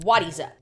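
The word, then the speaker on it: Wattieza: How do I pronounce that? Wadiza. The first one is called Wadiza and is known as the world's first tree that we know of.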